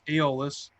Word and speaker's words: Aeolus: That's how you pronounce it now. I figured it out. Aeolus.